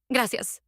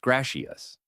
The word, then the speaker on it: gracias: Gracias. Gracias. Another one most people know. But here's a pronunciation tip for our listeners. The cas at the end sounds like seas. Gracia, not gracious.